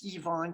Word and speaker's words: Ivan: by uh yvonne iii now americans you see ivan it's kind of more worse than pronounces evon kind of like the french evon it's a form of